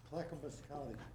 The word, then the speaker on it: Clackamas County: How do you pronounce it? Clackamas County.